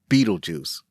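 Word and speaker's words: Betelgeuse: No matter which spelling is used, the pronunciation is the same. Beetlejuice is a strange name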